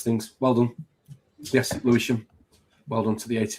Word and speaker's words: Lewisham: Enfield, Newam, Hackne or Levisham or Lewisham. Louis Lewisham. Tom, come on. Sorry, I've just said it. Lewisham from Yorkshire, you know. Can't really spell or pronounce things. Well done. Yes. Lewisham.